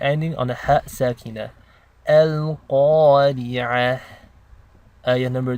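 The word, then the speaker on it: القارعة: So when you're pronouncing the alif in the elongation, you're making the same sound as you would when you say awesome in English.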